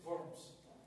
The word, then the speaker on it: Worms: Así lo decimos con V o V y no de W, aunque se escribe con W, es que en alemán se pronuncia con V, aunque dice Wittenberg, es Wittenberg. Igual cuando decimos, bueno, Worms es Worms. Por eso busco pues, pronunciarlo bien. Aunque no hablo alemán, pues así se dice.